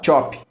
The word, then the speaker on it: chop: É job que fala, Thiago? Chop. Chop? Chop. Não é chopp não, Ângelo. É igual se escreve chopp mesmo.